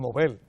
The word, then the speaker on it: Nobel: yo digo siempre premio nobel y la gente me ve como si yo tuviera hablando en correctamente así es como se pronuncia en sueco y así es como